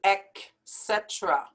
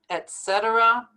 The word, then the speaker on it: et cetera: use the abbreviation etc i often hear people say ek cetra but it's cetera et cetera or etc right here